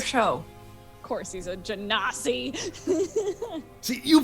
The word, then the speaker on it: genasi: Of course, he's a genasi. See, you pronounce it Genasi. It's like Gensai, isn't it?